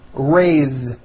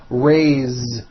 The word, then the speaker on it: raise: let's do some verbs raise meaning like to raise my hand now this word is a bit unusual because even though it is spelled with an S it's pronounced with a voiced Z raise so we say I